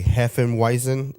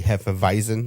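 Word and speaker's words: Hefeweizen: and a German beer the W is pronounced with a V sound so when you see Heen weisen it's really Heen visen that's that was how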